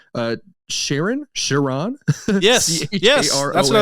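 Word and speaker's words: Charon: I'm terrified that I didn't know this um pronunciation uh Sharon Sharon yes yes that's what I was thinking of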